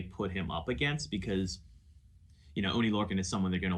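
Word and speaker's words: Oney Lorcan: Did I pronounce that right? Yeah, Oni Lorcan.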